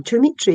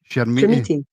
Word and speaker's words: Chermiti: Dimitri, is it not? Chermiti.